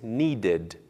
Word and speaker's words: needed: precisar no passado pronuncia-se needed Agora sim pronunciando o som da vogal e eu precisei de mais tempo outro exemplo o verbo print imprimir no passado pronuncia-se printed também pronunciando o som da vogal e i printed 10